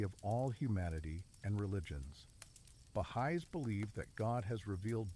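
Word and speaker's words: Bahá'í: Bahai faith the bahigh faith pronounced bahigh emerged in 19th century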